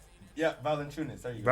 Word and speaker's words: Valanciunas: Yeah, Valanciunas. There you go. Valanciunas.